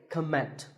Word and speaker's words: comment: heard many speakers say comment now whether you use this word as a noun or as a verb the first syllable is always calm so it's never a comment it's a comment word number 11 is